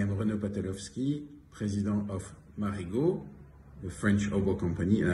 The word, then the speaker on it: Marigaux: reno patelowski president of marigold the french oval company and i wanted to confirm you that indeed marigo is pronounced and the a-u-x at the end of a name is not pronounced so you should consider